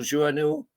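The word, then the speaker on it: Joannou: Paul Journeau. Is that how you pronounce it, Steve?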